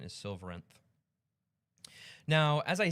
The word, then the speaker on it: Silveranth: Um, you could pronounce it Song of Silverth if you want, but I think the official pronunciation is Silverenth.